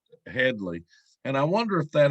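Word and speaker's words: Hedley: lamar i noticed that they would always pronounce his name wrong in the film and he would correct them if he would correct them headly and i wonder if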